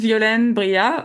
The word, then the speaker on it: Violaine Briat: Uh it's pronounced violin bria, but I think I am going to rebrand